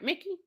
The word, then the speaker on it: Mickey: Mickey. Her name is Mickey, right? VIP lady said it's Mickey. But Mickey and Mikey are spelled the same way. It's just pronounced different.